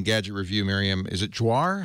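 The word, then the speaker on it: Joire: Even in Gadget Review, Miriam, is it Jouar? How do you pronounce Miriam's last name? Miriam Jouar, yes.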